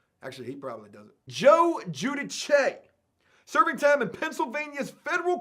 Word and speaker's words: Giudice: I literally watched the YouTube video just so I could learn how to pronounce this guy's last name. Giudice. Joe Giudice. Giudice, hey, you mean Giudice?